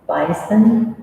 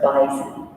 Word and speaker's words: bison: It can be pronounced bison or bison.